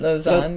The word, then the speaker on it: Lausanne: We met actually in, I'm going to pronounce it wrong, but Lausanne, am I saying that right? Lausanne, yeah.